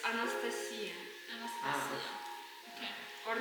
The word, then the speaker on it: Anastasia: For English speakers, in Russian it's Anastasia Anastasia. Okay. or Nastya.